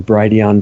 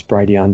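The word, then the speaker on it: Brighteon: also our channel on Brady on comm which is spelled B righ t EO n like bright Eon bright age and our channel is Brady on comm slash Channel slash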